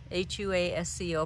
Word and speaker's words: Huasco: This first one I'm showing you is Huasco Aran, H-U-A-S-C-O, pronounced Huasco, like Wakaya alpaca is H-U-A.